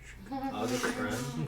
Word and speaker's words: August Prim: August Prim. Is how it would be pronounced in Thessalonian.